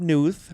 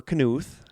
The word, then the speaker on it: Knuth: The K is silent.